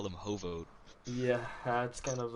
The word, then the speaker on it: H0v0t: I'm getting word that the team name is actually Hoot, not Hovit. Hoot? It's Hoot, and I guess the V is silent, so...